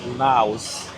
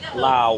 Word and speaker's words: Lao: pronounce the S because that describes the country. Lao without the S describes the people and the language.